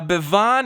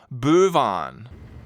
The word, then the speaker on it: Bevan: Now, Bevan is a person of interest to the anti-strangling task force. Who is Bevan? Michael makes a strong point of confirming his name when Kevin mispronounces it Bouvan.